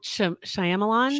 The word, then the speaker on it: Shyamalan: whole lot about it I'm I'm on the pronouncer here on Google hold on oh Shyamalan Shyamalan Shyamalan M Knight Shyamalan that's what the